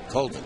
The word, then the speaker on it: Colvin: Spelled his name the same way, but he pronounces it Colvin, this kid here from Clemson.